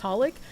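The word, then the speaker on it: xxxHOLiC: It's just Holic. Whatever! I also pronounce the X in Hunter x Hunter.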